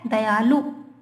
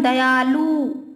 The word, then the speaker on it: दयालु: रूप इसका क्या है दयालु नाथ छोटू की मात्रा होती है उसमें लेकिन हम दया आलू खींच देते हैं तो बड़ों की मात्रा का उच्चारण करते परंतु यह क्या